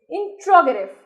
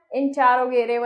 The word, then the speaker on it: interrogative: इंट्रोगेटिव कुछ लोग बोलते हैं इंटेरोगेटिव एंड इट इज the correct pronunciation of this word is इंट्रोगेटिव yes.